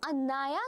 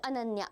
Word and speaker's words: Anaya: Ma'am, I am Anaya, not Ananya.